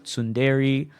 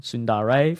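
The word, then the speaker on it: tsundere: dash uh d-e-r-e yandere sundari Etc pronounced okay I got that wrong sundare for example um waifuism is in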